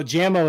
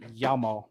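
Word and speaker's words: Jamo: say yeah i oh jammo is actually pronounced yama oh what is that from there's like a video big yamo oh you know what it is big hero 6.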